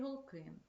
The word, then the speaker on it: голки: сосні або ялині наприклад Ялинка має гострий голки наголос ставимо на другий склад в останньому реченні розкажіть